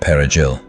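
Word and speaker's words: perejil: Soldiers went village to village, identifying Haitians by making them pronounce the Spanish word perigil, parsley. If you couldn't roll the R, you died.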